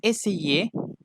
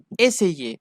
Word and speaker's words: essayer: Essayer. Ok, racontez que la R ne se prononce pas. Essayer, non, ce n'est pas correct. C'est essayer.